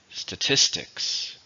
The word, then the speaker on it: statistics: numbers it's a noun how many syllables are in statistics three stresses on the second syllable statistics the statistics in the